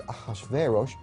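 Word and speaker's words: אחשורוש: Now that was hard for the Jews to pronounce, so they said Ahashverosh.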